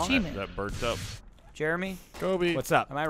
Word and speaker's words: Kobe: Kobe. Oh, he tried to say his name, and he said, like, Kabuya.